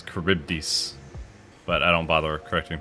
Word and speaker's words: Charybdis: It's not Charybdis. It's Charybdis.